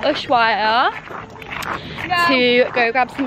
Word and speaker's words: Ushuaia: Yeah, Ushuaia. Ushuaia.